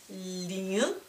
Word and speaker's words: 零: Pay more attention to the tones. Second tone is a what? What? Lin. Lin makes a zero.